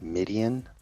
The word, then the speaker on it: Midian: Uh, it's pronounced Midian. Like the Midianites.